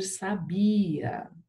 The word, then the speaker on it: sabiá: Tem que colocar o acento agudo no A, senão fica sabia. Então pode colocar o acento no A. Sabia. Oxítona terminada em A.